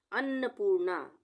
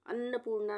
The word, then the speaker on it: अन्नपूर्णा: अन्नपूर्णा, अन्नपूर्णा में आधा न और पूरा न दोनों आएगा। अन्नपूर्णा, पूर्णा, पू के बाद आधा र का उच्चारण आ रहा है, तो यहाँ पे रेफ की मात्रा न पे लगेगी, पूर्णा।